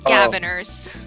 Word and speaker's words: Gavin: happy by the way it is pronounced gavers gavers yeah gavers the G the gavers the sick back